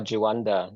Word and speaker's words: Juanda: Yeah, there's various versions, but, uh, we'll go by Juanda.